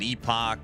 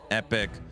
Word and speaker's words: Epoch: Some people pronounce it Epoch. Some people pronounce it Epic.